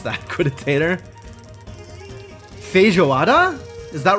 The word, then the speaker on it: feijoada: The emphasis is on the last syllable. So feijoada.